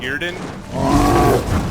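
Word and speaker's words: Yrden: Now, I like Irden. That's how you pronounce it.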